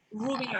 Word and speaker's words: Roubian: Roubian, because I didn't want to mispronounce it.